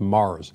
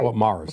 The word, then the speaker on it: Myers: It's spelt Myers. It's pronounced Mars. Right. Fort Mars.